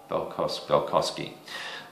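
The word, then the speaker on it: Balkoski: Is that how you pronounce his name? Let me just see. Yeah, Balkowski.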